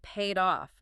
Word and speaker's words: paid off: Note the stress for our listeners. It paid off. The stress is on, off. Yes, that's a good point. Stress on the off.